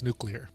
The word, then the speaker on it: nuclear: to as a kid remember how to pronounce nuclear there you go nuclear days in it